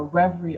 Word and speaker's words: Revry: We are a Reverie original series, and Reverie is an app, it's a website, it's a channel. Reverie is Netflix for LGBTQ. That's the reality. That's what we are. It's spelled Revry.